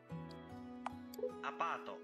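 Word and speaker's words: アパート: Apato. Apato. Now, you probably noticed that the word apato sounds very close to the English word apartment.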